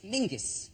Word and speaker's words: Menzies: His name is Mingus. Mingus, yes. Goss. Yeah, Yeah, but it's pronounced, it's spelled M-E-N-Z-I-E-S.